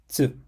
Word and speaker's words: つ: It's similar to the tsu sound in cats or pizza, but smoother. It's not tsu, but tsu. Let's pronounce it slowly together. Tsu, tsu, tsu.